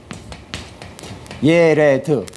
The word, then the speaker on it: 야렛: 그 야렛이라고 하잖아 야렛 근데 원래 발음 하기은 예 레 드입니다 예레 드 야렛 이것이 무슨 뜻이냐면 여기서